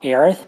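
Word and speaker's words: Aerith: but yeah yeah it's very it's very clearly aith now it's been it's been enough games of aith that I've converted um but it it was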